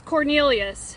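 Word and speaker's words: Quornelius: The first name is Cornelius. It's spelled Q-U-O-R-N-E-L-I-U-S.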